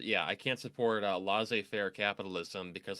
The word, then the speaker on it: laissez-faire: This is part of the reason why I can't support the notion of is it pronounced laissez-faire? That's the way you pronounce it. Yeah, I can't support laissez-faire capitalism because like the